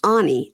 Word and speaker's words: Any: girl named Anie, but it's spelled any a n y like any day of the week. I've seen that. I don't know if it was a character in a book or something like that, but I I've seen that before. But it's anie. A n y. And so I now I just write it a h ne e. So that I'll say anie.